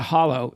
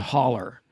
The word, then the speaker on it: hollow: you're listening to this, it's not a hollow, it's a holler. That's the way it's pronounced.